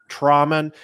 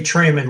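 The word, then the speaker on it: Thramann: it is my great pleasure to bring on from Auddia, Jeff Trauman. Am I getting the pronunciation right? It's actually Trayman, like the H doesn't exist. Trips everybody up.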